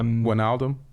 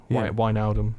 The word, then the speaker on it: Wijnaldum: If it's an IJ, if it's an I and a J, I think it gets pronounced as a Y.